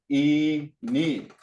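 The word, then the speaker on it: iinii: English long season okay there's a little trick to this so we just said e knee and if that's how you spell it e me okay i i n i i so you say which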